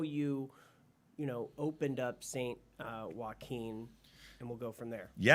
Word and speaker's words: Saint Joaquin: It is St. Joaquin.